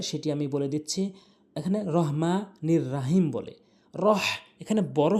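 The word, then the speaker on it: الرحمن: জন্য শুরু করছি বিসমিল্লাহির রাহমানির রাহিম এখানে আমরা বিসমিল্লাহ যদি বলি অধিকাংশ লোক এই বিসমিল্লাহির রহমানির রাহিম বলে এটি সবচেয়ে বড় ভুল করে প্রথমেই বিসমিল্লাহ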